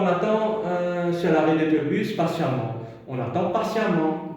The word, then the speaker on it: patiemment: Quand on attend sur l'arrêt d'autobus, patiemment. On attend patiemment. Nous écrit E, mais nous prononçons A. Donc, nous garde ça E là. On va garder le E, patiemment.